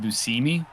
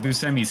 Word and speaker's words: Buscemi: Constantly correct people, and it's actually pronounced Buscemi, but he's like, Buscemi's fine. And this is scooped up by the Lions.